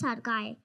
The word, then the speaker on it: Arkaya: My name is Arkaya and the spelling is a r k a y a. People often pronounce it wrongly. It's in Sanskrit.